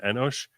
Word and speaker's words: Enosh: We we call him Enosh. We'd probably spell it with a with an an S instead of that C. But we we we pronounce we pronounce in Hebrew Enosh.